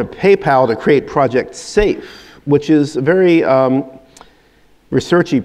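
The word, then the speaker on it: Seif: And Douglas has created Project Safe, spelled like Leif but with an S, as a pun on safety.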